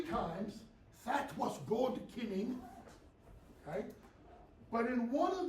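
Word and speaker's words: cyning: It's spelled C-Y-N-I-N-G, kinning, okay?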